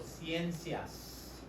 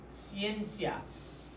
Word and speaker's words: ciencias: how do we say it's like plural Cenas right it's it's like 100 in Spanish is Cen right yall know that right y remember that and you add the c i a s Cenas um never n early